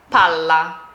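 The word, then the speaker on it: palla: Pala. Pala. Pala. I'm just holding the L a little longer.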